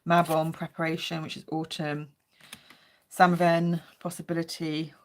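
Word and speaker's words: Samhain: preparation which is autumnn San possibility some people pronounce it saline um Yu which is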